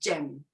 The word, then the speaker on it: JM1: Et c'est bon pour Janet, Matthew, puis ça se prononce Jam.